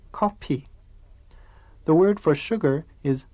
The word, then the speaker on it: 커피: Koreans borrowed this word from English, but the Korean language has no F sound, so they say coffee.